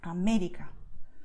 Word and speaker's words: América: You stress where you see the acento, América. Or perdón, you see, perdón. You just go and stress it. To stress, I mean, you just emphasize this vowel, okay? You pronounce it a little stronger. You do not change the sound of the vowel. You just go all for it, okay?